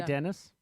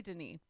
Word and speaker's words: Denis: say his name um what else could it be dennis it's definitely denis uh sorry that sounded